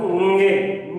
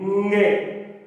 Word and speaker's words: ङे: चतुर्थी विभक्ति में दोस्तों ङे, भ्याम और भ्यस, इसका सही उच्चारण होता है दोस्तों ङे। ङे ये नाक से बोला जाता है, अनुनासिक वर्ण है।